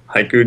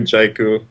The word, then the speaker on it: Jaiku: Yep, Haiku, Jaiku, Yaiku, however you want to pronounce it.